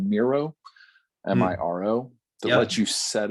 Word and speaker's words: Miro: so um there's also mural m-u-r-a-l which sounds entirely too close to miro you have to pronounce it awkwardly different but yes and then